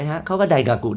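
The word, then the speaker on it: 大学: มั้ ฮะ เค ว่า ได กากุ ได กากุ ได กากุ มัน ก็ ฟัง เป็น คล้าย ๆ งอ งู ไป ใน ตัว นะ ฮะ เพราะ ฉะนั้น มัน มา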